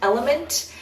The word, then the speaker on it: LMNT: recommend are by the brand element it is spelled lmnt and they have extremely